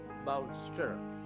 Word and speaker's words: bolster: அதுக்கு இங்கிலீஷ்ல என்ன சொல்றது அப்படின்னா பால்ஸ்டர், BOLSTER, பால்ஸ்டர் என்று சொல்ல வேண்டும். உச்சரிப்புல இன்னும் கொஞ்சம் தெளிவா சொல்லணும்னா பவுல்ஸ்டர் என்று உச்சரிக்க வேண்டும்.